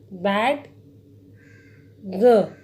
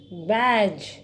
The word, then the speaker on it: badge: अगर हम इसको स्पेलिंग के अकॉर्डिंग देखें तो क्या बन जाना चाहिए? बैड ग।